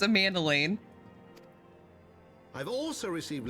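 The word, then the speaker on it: Emmanellain: thank you enough for saving younger manilane's life a mandoline that's how I pronounce it I have to remember that I have to remember that his name is pronounced Amanda Lane I've also received letters from both house a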